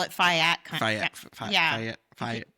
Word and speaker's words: Fayette: And I always want to say it's Fayette County, right? No, you call it Fayette. I want to call it Fayette.